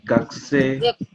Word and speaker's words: gakusei: Actually, the you don't need to pronounce it. Just that's fine. Gakusei. Oh. It's like silent U.